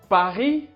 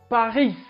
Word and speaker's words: Paris: 1327 habitant à paris on dit paris pas paris ce nom paris paris